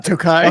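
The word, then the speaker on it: Türkiye: How do you pronounce that? Turkey. Tai like tookai.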